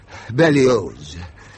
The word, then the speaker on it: Berlioz: Hector Berlioz. The Z is pronounced.